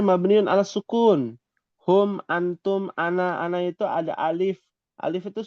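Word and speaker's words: أنا: Ana kan memang pendek sebenarnya. Ana. Kan tadi ditulisnya sukun. Mabniun ala sukun. Ana itu sebenarnya begini memang. Pendek. Oh, asli. Aslinya pendek. Kita nggak boleh bacanya panjang.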